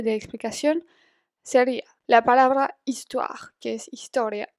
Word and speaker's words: histoire: histoire, que es historia, empieza por una H muda en francés. Entonces, en este caso, no vamos a decir sa histoire, pero vamos a decir son histoire. Y ahí ven que también hago la liaison, son histoire.